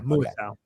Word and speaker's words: Muasau: Is it Muasau or Musau? How do you pronounce that guy's name? Darius Muasau? Muasau. Yeah, Muasau.